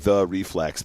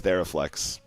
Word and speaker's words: Theraflex: I mean, it could also be pronounced the reflex, but if people would just learn how to capitalize their names, I mean, as far as I'm concerned, it's Theraflex. If there's a capital T